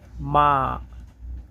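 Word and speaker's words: mā: 1 number tone উচ্চারণের নিয়ম হচ্ছে সমান ও লম্বা সরে। এটা একদম সমান লম্বাভাবে যাবে, যেমন মা, মা, MA, মা, আ, এরকমভাবে মা, মানে আ করে শব্দটা এভাবে যাবে মা।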